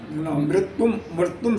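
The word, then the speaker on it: मृत्युं: लिखा मृत्यु गम शरणम मृत्यु मृत्यु शरणम उसका उच्चारण होता है मृत्युम शरणम शरणम प्रपन्नो अभम प्रपन्नो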